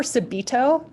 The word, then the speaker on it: subito: heard that word before subido yeah it's spelled s you be IT o and what that means